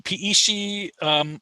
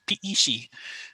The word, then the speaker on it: Peishi: And we're pretty sure it's pronounced Peishi, but we have yet to have that confirmed from a Apache.